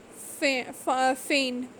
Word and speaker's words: feign: Foreign, sign, feign. So in these cases we can see that G is not pronounced when it comes before N in a word.